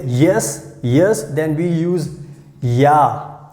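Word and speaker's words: ja: yes then we use yeah yeah so here you can see j we pronounce like y so yeah so you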